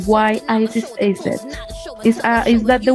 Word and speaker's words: Isis: something why did you choose your name why isis is it is that the way you pronounce it that right yes yes well i